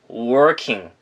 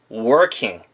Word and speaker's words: working: R은요, 입술을 이렇게 동그랗게 모은 다음에, 우하게 모은 다음에, 목의 진동을 이용하면서 발음을 하시면 좋습니다. 자, 그래서 working 하지 마시고요. 진동, working, working.